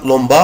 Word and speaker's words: lampe: مكتوبة طبعا لومبا هي مش لومبا هي لومب بدل الآ اكتب او. Il y a une lampe à gauche de la fenêtre. في لومب على شمال الشباك.